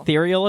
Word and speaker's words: ethereal: to hear this ethereal ethereal ethereal ethereal is how you say it and the definition is